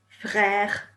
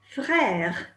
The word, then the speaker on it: frère: Did you notice that mère, mother, mère, and père, father, père, both rhyme with frère, for brother?